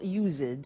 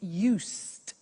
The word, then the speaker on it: used: we use used to look at the spelling s it's it's u s e d and then t o but the pronunciation is not used it's used unusual used okay so the example is